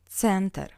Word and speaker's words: Центр: Since this word is a foreign origin as well as stress, we pronounce «е» as «э». Центр.